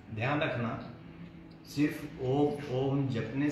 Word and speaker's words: ओम: अ का उच्चारण लघु काल तक और ऊ का उच्चारण दीर्घ काल तक और म का उच्चारण करना ही नहीं होता। होठ बंद होने के बाद स्वतः एक ध्वनि आपके नासा से निकलती है।